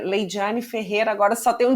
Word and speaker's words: Laydyane: É, então quem quiser me encontrar, né, meu Instagram é Leidiane Ferreira.